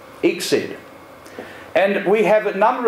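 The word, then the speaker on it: ICSID: acronyms here known by the acronym which is slightly easier to pronounce than most exid exid and we have a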